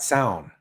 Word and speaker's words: Samhain: So I'm just going to get the pronunciation. That's right, Samhain.